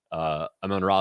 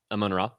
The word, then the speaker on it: Amon-Ra: Amon-Ra St.